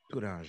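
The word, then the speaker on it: toranja: En portugais, c'est tourange. Touringe. Tourange. Très bien. Vous avez une très bonne prononciation, Thierry.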